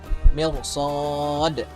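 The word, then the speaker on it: مرصاد: Nah, mirsotnya walaupun itu ro sukun sebelumnya kasroh, tapi setelahnya huruf isti'la ada huruf sod, maka ro-nya dibaca tebal. Mirsod.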